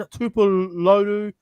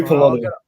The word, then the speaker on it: Tuipulotu: In the 37th minute, through Christian Tupaluta, Manly go left with Foran to Schuster to I can't even pronounce his name. Christian Tupulotu. Oh, I'm sorry. Tuipulotu.